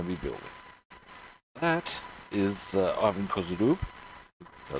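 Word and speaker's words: Ivan Kozhedub: That is Ivan Kozudub, so it's pronounced, quite beyond that.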